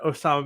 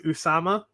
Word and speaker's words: Usama: It's like when you're like really high level, nobody said Osama bin Laden. It was always Usama with a U because that's closer to the actual pronunciation.